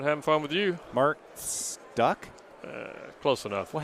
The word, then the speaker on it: Stueck: Mark Stueck? Close enough. Well, how do you pronounce it? Stueck.